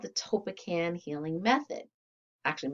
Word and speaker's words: Tolpakan: is it called the topekan healing method actually most people mispronounce this topac but you know that's